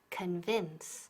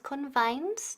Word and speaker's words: convince: To convince. Ok, repeat. To convince. Y ojo con la pronunciación. No es convince, no. Convince.